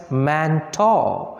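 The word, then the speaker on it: Mantoux: is manto test here x is there but it is pronounced as manta man thought test is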